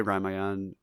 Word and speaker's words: Ramayana: say Ramayan, but like it's spelled Ramayana.